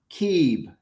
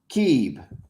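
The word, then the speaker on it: Cib: Pathfinder, is Keeb, C-I-B, Keeb, right?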